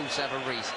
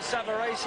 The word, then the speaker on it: Savarese: The Italians behind us are pronouncing it Savarese, and that'll do for me, Frank. Savarese, I believe, is the American pronunciation, but we won't worry about that.